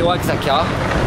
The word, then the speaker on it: Oaxaca: arrivé à Oaxaca au Mexique. Alors, Oaxaca en fait s'écrit Oaxaca, mais se prononce Oaxaca parce que le X se mange.